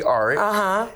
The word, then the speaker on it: Aric: It is Aric.